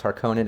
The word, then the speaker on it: Harkonnen: would be her cookops how they pronounce her conan it really bothers me you know what i mean like how they did the harkonnen like parkin or whatever i don't know yeah so i feel like throwing a little shade at the at the uh the pronunciation but they had it right not me i shouldn't be talking